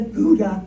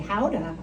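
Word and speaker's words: Gouda: cheese maker who made the Gudda or should we say Howa is how it's pronounced this is the cheese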